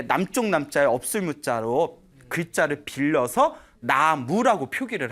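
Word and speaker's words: 南無: 나무가 원래 우리가 발음으로는 쓰기는 남무라고 쓰지만 읽기로는 나무라고 읽잖아요. 네.이 나무가 저 인도에서 나마스테라고 하죠.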